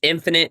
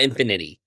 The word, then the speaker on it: Infinite: It's Infinite, not Infinity.